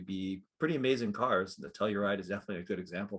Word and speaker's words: Telluride: with the kia uh how do you pronounce that telluride telluride tellurium telluride yeah hello ride right um it's a fantastic